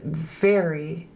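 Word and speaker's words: Mhairi: It's pronounced very, the M is a V, okay, very.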